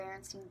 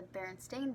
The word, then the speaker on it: Berenstain: and it was famous for being called the Berenstein bears and it was spelt with an e but when reality it is pronounced the berenstain bears and has an A instead of an